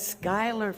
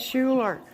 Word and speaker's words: Schuyler: from the TV show they pronounce it Skyler Virginia here all along I was pronouncing it Schuler so sorry about that